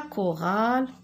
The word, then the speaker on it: chorale: Alors, parce que CH se prononce que, exemple, la chorale, en chœur.